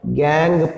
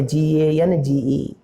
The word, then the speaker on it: gangue: They are called as gangue particles. Maybe rocky particles, earthy particles, sandy particles, even non-metallic part is also called as gangue part. Gangue, not a Gange. Gangue. So you have to pronounce it gangue.